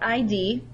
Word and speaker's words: id: The first construct is called the id. Now it's not ID, it's pronounced id.